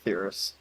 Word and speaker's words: Theris: Is that how you pronounce it? Yeah, Theris.